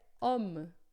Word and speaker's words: homme: E aqui não é home, não, mas é homme, homme, tá? Então, o H é sempre mudo em francês, tá?